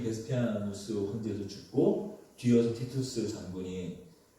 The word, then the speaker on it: 베스파시아누스: 그렇게 네로의 뒤에 이어서 티투스 장군의 베스파시아누스 발음이 베스파시아누스 이 장군이 황제가 되고 얼마 뒤에 이 베스피아누스 황제도 죽고 뒤이어서 티투스 장군이 왕이 다시 이어서 황제가 되지만 다시 이 황제도 2년 뒤에 죽고 말죠.